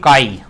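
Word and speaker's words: χ: जाता है यह वाला इसको एक्शन नहीं पढ़ना इसको अपने पढेंगे कई इसको क्या पढेंगे कई पढेंगे यह क्या होता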